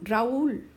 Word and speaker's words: Raúl: I need to decide if I want Raul or Raul. I want to break them up. I want Raul. I want 2 separate syllables. The A is strong, the U is weak. So in order to let the U stand by itself, I'm going to put an accent mark on it.